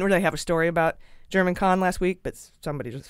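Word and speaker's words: Germán Khan: It's been pointed out to me by someone in the know that it's pronounced German Kahn, not Hermann Kahn.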